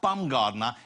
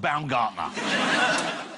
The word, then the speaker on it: Baumgartner: He also broke the world record for the amount of times he had to say to someone, no, not Baumgartner, it's pronounced Baumgartner.